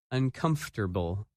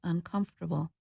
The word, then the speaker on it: uncomfortable: That word is uncomfortable, and its opposite, comfortable. When you say this word, you do not pronounce some of the letters that you see in the written word.